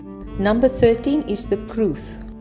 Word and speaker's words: crwth: number 13 is the truth the strange spelling is due to the fact that this is a welsh word and w is pronounced as a vowel in welsh similar instruments have been